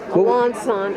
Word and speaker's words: Alençon: with French Alençon lace What? French? Alençon, Alençon. Oh, you said it. Alençon lace, Wait, how do you spell it?